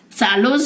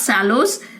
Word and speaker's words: shallows: Shallows here means the shallows, not sallows.